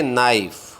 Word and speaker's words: knife: Silent word कहते हैं, किंतु रोमन लिपि में कुछ वर्णों में साइलेंट वर्ण भी होते हैं जो लिखे तो जाते हैं किंतु बोले नहीं जाते।